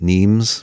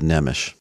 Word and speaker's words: Nemes: life with dr nemish and his last name is spelled n-e-m-e-s it looks like neems but it's pronounced nemish now despite all of